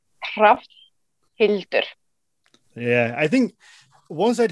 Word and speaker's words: Hrafnhildur: If you're quite slow at it, like Sean does, then it's Hrafnhildur.